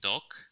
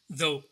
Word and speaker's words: dhawq: Yeah, it's a wonderful explanation here, and I'm really happy that you brought up the pronunciation dhawq? Dhawq.